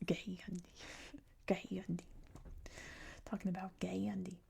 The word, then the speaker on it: Gandhi: there's an article about Gandhi and he was like, "Oh, you said his name wrong. It's Gay Yandi."